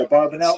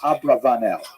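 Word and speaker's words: Abravanel: who and I said a barbanel oh like the wine right because that's how she she remembers it that way a barbanel is perhaps if you go to Yeshiva they'll say a barbanel is a popular song abarbanel ba ba abarbanel you've heard it um and um but the probably correct I'm following Netanyahu here probably correct is Abra vanel that's probably how he pronounced it more or less with my Canadian accent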